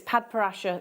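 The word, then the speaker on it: Padparadscha: times that we've said I could never say it, Padparasha Sapphire. It's spelled very new, but it's Padparasha Sapphire.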